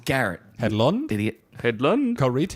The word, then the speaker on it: Garrett: from the reach headland garite Garrett Garrett Pedro did you know garite great choice it's Garrett and lon Billy headland